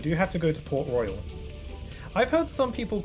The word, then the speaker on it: Port Royal: We do have to go to Port Royal. I've heard some people call it Port Royale.